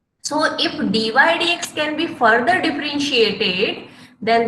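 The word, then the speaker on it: dy/dx: pronunciation जब आप करेंगे nobody will utter dy upon dx, it's not ratio at all.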